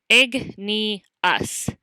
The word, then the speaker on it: igneous: first type of rock is igneous which you pronounce igneous igneous means fire rocks which is a good